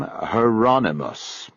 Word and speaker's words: Hieronymus: aloud with obvious familiarity he pronounced the first name Hieronymus I thought that was how you said it rhymes with anonymous his work is actually